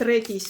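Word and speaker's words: redis: Редис так и будет редис, только на другое ударение.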